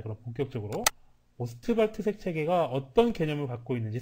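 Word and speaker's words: Ostwald: 빌헬름 오스트발트, 영국식 발음으로 한다 그러면 윌헬름 오스왈드죠. 오스왈드. 케네디 대통령을 암살했던 그 암살범의 성과 똑같은데, 네, 독일식 발음으로 오스트발트 이렇게 발음하는 걸로 통일하도록 합시다.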